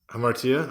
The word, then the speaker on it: hamartia: anyway but uh hamartia did I umartia okay that's so that's the Greek pronunciation all right should we